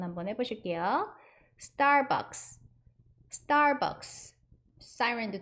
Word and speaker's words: Siren: 사이렌 오더라고는 써 있을 거예요. 한국말로는. 스타벅스 두 번 한번 해보실게요. Starbucks, Starbucks. Siren도 두 번 해보실까요? Siren, Siren. 이 사이렌은 어디서 많이 들어보지 않으셨나요? 우리나라 발음식으로는 사이렌이잖아요.